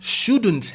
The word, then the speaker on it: should: Если дословно should have означает следовало бы, отрицание shouldn't have уже означает не следовало бы. Еще очень важное произношение л. Буква Л не считается. Мы не говорим should, просто should.